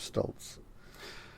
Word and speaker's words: Stoltz: He did write Stoltz. He did write it, didn't he? Yeah. Stoltzy, I believe. Yes, but it's a long E. We pronounce it Stoltz.